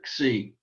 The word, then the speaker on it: xi: Sometimes we put a little X sound on the beginning just to pronounce it either xi, but it's just really xi.